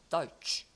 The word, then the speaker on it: deutsch: 이것도 오이 발음이 납니다. deutsch.